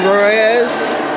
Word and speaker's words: Ruiz: who is a percussionist his name is william royes am i pronouncing that right yep okay william can you